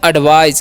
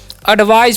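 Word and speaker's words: advise: इसे हम क्या पढ़ेंगे एडवाइज क्या पढ़ते हैं जी एडवाइज पढ़ते हैं एडवाइज मतलब क्या होता है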